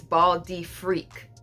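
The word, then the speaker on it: Bal d'Afrique: I mean, when I slow it down, it says Bal de Frique. But Bal de Frique, you gotta say it like that, you know, French.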